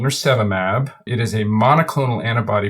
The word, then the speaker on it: nirsevimab: I've heard it pronounced various ways. Nirsevimab, yeah.